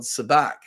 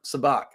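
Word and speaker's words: sabacc: now the name of the game is called sabac s-a-b-a-c-c i believe they spell it um yeah there you go mark sabach um that's actually how lando lost the millennium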